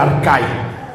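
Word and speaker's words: ἀρχή: Por ejemplo, cuando dice principados, e aquí viene en en esta traducción dice arhe que se pronuncia arca.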